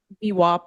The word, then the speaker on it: VWAP: VWAP is in my opinion the right way. VWAP is the proper pronunciation.